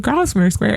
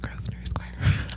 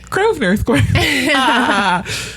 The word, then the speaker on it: Grosvenor Square: My first tour, I'm like, and in Grosvenor Square. And they're like, it's pronounced Grosvenor Square. Like, oops. I was like, oh, cool. Grosvenor Square.